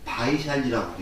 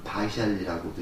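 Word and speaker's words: वैशाली: 해서 외살리를 요렇게 이제 V자로 썼는데, 요거를 우리가 이제 다른 말로는 바이샬리라고 읽습니다. 그래서 우리가 이제 여기서는 파리어를 기준으로 해서 이제 외살리라고 했는데, 요거 이제 산스크리트를 기준으로 하면 바이샬리라고도 읽습니다. 그러니까 외살리나 바이샬리는 똑같은 저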